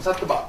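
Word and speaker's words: सत्त्व: 인도말이 싹드바라고 하는 사트바라고 해서 사트바, 인도식 발음입니다.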